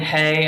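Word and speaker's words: ἡ: this are different words a and hey are different words so they can mean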